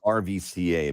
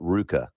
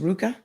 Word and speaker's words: RVCA: lot of people say rvca but in fact it is called ruka just a shirt says rvca but it's pronounced ruka it's pronounced ruka for